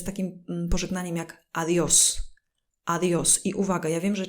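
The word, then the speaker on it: adiós: wyraz to bardzo często my polacy przekręcamy go mówimy adios to jest niepoprawna wersja tego słowa musimy powiedzieć adios na to jest akcent czyli adios to jest do widzenia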